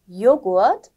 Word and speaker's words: Joghurt: 어떤 경우냐면 모음 다음에 하가 왔을 경우 모음 다음에 하가 오게 되면은 하 발음이 안 되고요. 대신에 그 앞에 있는 모음을 길게 좀 읽어주시면 좋을 것 같습니다.